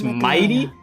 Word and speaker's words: Mydei: I've been saying Mydei. It's Mighty.